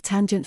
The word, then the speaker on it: tanh: function pronounced cosh and the hyperbolic tangent function pronounced tange we will look at